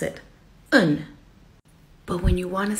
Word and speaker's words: een: a house you would write like this but pronounce it un but when you want to say one house